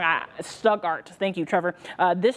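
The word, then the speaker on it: Stuttgart: there's also a really nasty storm moving through stuger if I'm saying it wrong I stugart thank you Trevor uh this storm looks really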